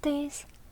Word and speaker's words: 디귿: ㄷ phát âm là [d]. Và tên là 디귿 được rồi, tiếp theo